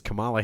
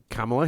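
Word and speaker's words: Kamala: I I Yeah, he said that the person who should not be president is Camala Harris because Say her name right. She's a black woman. Kamla Harris because she has a weird laugh.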